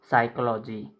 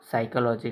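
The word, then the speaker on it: psychology: तो साइकोलॉजी साइकोलॉजी साइकोलॉजी इसमें P silent होता है। इसीलिए साइकोलॉजी कहते हैं।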